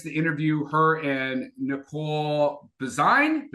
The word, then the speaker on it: Bazine: So, I just got a chance to interview her and Nicole Bazine. Bazine design like design is how you say her last name.